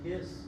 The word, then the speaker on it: His: the bundle branches, also called the bundle of His, is how we pronounce that, and the Purkinje fibers.